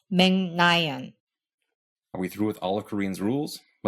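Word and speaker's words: 멕 라이언: So our first syllable goes from meg to meng. And that is how and why Meg Ryan is pronounced Meng-nayan.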